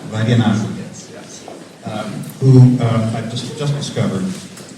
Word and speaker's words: Vaidhyanathan: I'm very sensitive to the pronunciation of last name. Vaidyanathan.